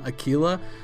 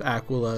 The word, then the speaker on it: Aquila: when I called them Akila I was informed quite emphatically that it is an Italian word it's pronounced Aquila it means eagle and it is not pronounced a Aila like it's tequila so